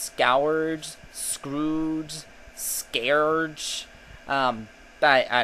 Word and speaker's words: Scourge: There are people who think it's supposed to be pronounced scourge, scrooge, scourge.